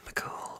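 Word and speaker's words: mac Cumhaill: it is theon mccool fion mccool which is spelled c-u-m-h-a-i-l-l irish spelling and then phineas no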